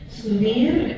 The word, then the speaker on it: subir: And the B is not real percussive, is it? No, It's almost some shade of B. and there's no B. It's all pronounced like B's in Spanish.